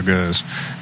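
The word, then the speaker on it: gueuze: might be another e in there anyway it's pronounced goose or goes and it's um yeah it's maybe the most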